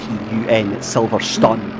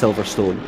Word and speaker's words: Silverstone: so we We spelled Silverstone uh it's s-i-l-v-e-r-s-t-u-n Silverstone um but it's it's pronounced Silverstone and usually by any other actually intellectual part